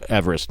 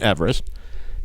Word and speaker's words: Everest: like whatever edwin uh everest but it wasn't everest the actual pronunciation of his name is eve rest so we've been saying